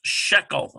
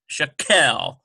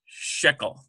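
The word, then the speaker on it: שקל: we know then that this is pronounced shekel not shakal but shickel that's what that moon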